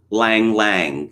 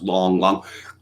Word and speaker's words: Lang Lang: mal's are done deng xiaoping well actually it's pronounced dung xiaoping lang lang the famous classical penis actually it's pronounced long long but the whole point of transliteration is such